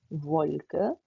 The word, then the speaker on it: Wolke: यहाँ पर आप देख सकते हैं कि जो जर्मन W है वो इंग्लिश के V की तरह प्रोनाउंस हुआ जाता है. यानी कि यहाँ पे आप इसको बोलेंगे Wolke, Wetter.